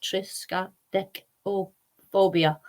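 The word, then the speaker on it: triskaidekaphobia: and it is a Greek for 13 pronounced triska dick or phobia there isn't a particular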